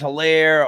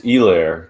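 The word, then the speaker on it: Helaire: say say his name everyone says like c-e-h or some people say like you know edward's hilaire or some like it's hilaire like it's it's elaire the agent he's got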